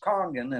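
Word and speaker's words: Kangen: It's spelled Kangan, but it's pronounced Kongan.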